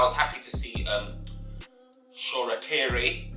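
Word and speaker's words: Shoretire: happy to see um shorakiri which is the correct pronunciation of his name i was calling him short tire before but sure he's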